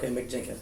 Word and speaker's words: Mick Jenkins: Spelled like Mike, but it's Mick. Mick Jenkins.